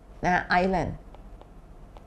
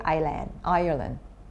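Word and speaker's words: Ireland: เหมือน กัน เนาะ นะ ก็ คือ iOS ประเทศ ไอร์แลนด์ นะ ออก เสียง ออยเออร์เนี่ย เนาะ เพราะ ฉะนั้น น้อง ๆ ระวัง การ ออก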